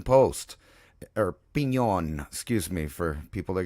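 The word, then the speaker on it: Piñon: So here's a New Mexico post right here from the Pinon Post, or Pinon, excuse me, for people that got mad.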